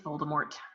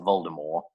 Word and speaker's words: Voldemort: purposes of our podcast it's Voldemort yes why not just for the purposes of our podcast but for all you people out there if you're pronouncing it Volda more stop fine I'm with you